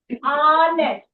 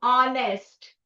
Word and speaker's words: honest: Honest. A. A. Okay. It starts starts with a vowel sound. Honest. Okay. H is silent. Honest.